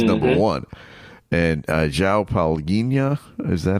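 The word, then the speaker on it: Palhinha: And uh Xiao Palinia, is that how you pronounce his name? Uh Palinia.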